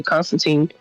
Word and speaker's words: Constantine: catch your name to Constantine. Killstreak successfully leapt out and jumped on one, and Constantine's like, the name's Constantine, or the name's John Constantine, and he gives a little like, rhymes with Ween.